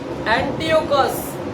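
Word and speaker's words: Antiochus: ये राजा का नाम है एंटियोकस। एंटियोकस। ये राजा का नाम क्या है? एंटियोकस। लिखना है स्पेलिंग।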